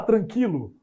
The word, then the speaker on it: tranquilo: dois pontinhos aquele trema não tem mais o trema Mas eu continuo pronunciando com o seu existe isso né eu vou falar tranquilo ai Tá tranquilo né tranquilo continua com esse mesmo som mas a coisa aqui